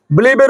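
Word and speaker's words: believe: আমাকে বিশ্বাস করতে হয় বিলিভ না বিলিভের উচ্চারণ এরকম করবা বিলিভ এর উপরে একটা স্ট্রেস দাও আইমলি আচ্ছা আমাকে ইংরেজি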